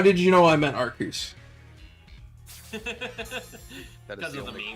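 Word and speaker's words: Arceus: How did you know I meant Arcus? That is the correct pronunciation.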